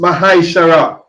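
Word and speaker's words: מעשר: Means 10 in Hebrew and is pronounced Mahaishara.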